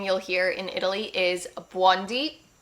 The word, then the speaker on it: buondì: It's actually, I find it very cute, but she's saying buondì. So she's stressing the beginning, but we stress the end because there is an accent. So we would say buondì. buondì.